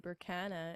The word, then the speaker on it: Berkana: the same page yeah so my first name is spelled and then berkana as b e r k a n a